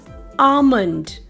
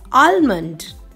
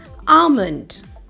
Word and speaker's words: almond: eat is pronounced as almond, not as almond. The L is silent in this word. You should not pronounce it as almond, as the correct pronunciation is almond.